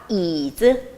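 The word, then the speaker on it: 椅子: dōngxi แปลว่าสิ่งของค่ะ คำต่อมาค่ะ คือคำว่า yĭzi yĭzi yĭzi แปลว่า เก้าอี้ นะคะ เมื่อสังเกตเสียง จะมีเสียงที่คล้ายๆ กับ คำในภาษาไทย ก็คือ เก้าอี้ เก้าอี้ yĭzi เสียงคล้ายกันค่ะ ถัดมาเป็นคำกริยานะคะ คำว่า zài zài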